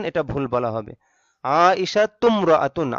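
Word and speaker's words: عائشةُ امرأةٌ: যদি বলি আয়েশা একজন মহিলা, তাহলে হবে আইশাতুমরাআতুন। আইশাতু ইমরাআতুন এটা ভুল বলা হবে। আইশাতুমরাআতুন, আইশাতু এই তু মিমকে ধরবে।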